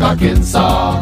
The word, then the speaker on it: Arkansas: also in Little Rock Arkansas it ends with an s but don't say it boy when mentioning Springfield